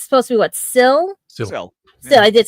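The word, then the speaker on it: Sil: classic Who, Nabil Shamban, and I can never pronounce his character. It's supposed to be what? Syl, I did say it right. Syl in Doctor Who and everything.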